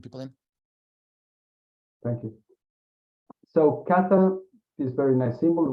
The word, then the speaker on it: kata: Well, there's like several words that are pronounced kata, but this kanji in particular refers to form.